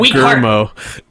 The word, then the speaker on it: Guillermo: It's pronounced Guillermo.